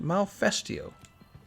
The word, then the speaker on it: Malfestio: How is it pronounced? Malfestio.